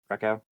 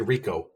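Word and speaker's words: Rehkow: Did I pronounce that right, Lob? Reckow? It's actually Rico. Rico, okay. I don't know how, but it's Rico, and he's a darn good punter.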